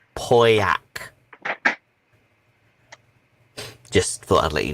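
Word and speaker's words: Pauillac: out shoe protector your wine is pronounced poyak just thought i'd let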